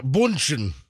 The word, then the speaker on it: Bündchen: I went to the official how to pronounce Gisele's name. Yeah, bunchen.